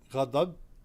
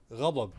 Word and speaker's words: غضب: In the word غضب, ضاد is a difficult letter to pronounce. You can use DH, غضب, it's going to work out. However, the correct word is غضب.